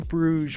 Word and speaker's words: Bruges: We are jumping back into another Martin McDonagh movie, this time with In Bruges, which I believe is how you pronounce that name.